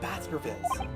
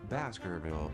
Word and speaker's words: Baskerville: It read, The Hound of Baskervilles. Hold on, am I pronouncing that right?